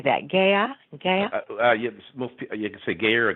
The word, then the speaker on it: Gaia: second meeting with how do you say that gaya okay yes a Gary Gaia Gaia Gaia yeah the consciousness of Mother Earth